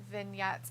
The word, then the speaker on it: vignettes: says, Dalitha, that V word is pronounced vignettes.